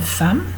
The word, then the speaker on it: femme: Une femme, par exemple, ça s'écrit F-E, deuxième E. On ne dit pas je suis une femme, on dit je suis une femme. Donc prononcé A.